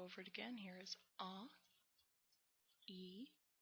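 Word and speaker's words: え: is all this is e e you want to pronounce it like e as in feed like that e e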